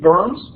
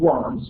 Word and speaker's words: Worms: He's ordered to appear before the imperial diet in Worms, not the diet of worms, or not the diet of worms.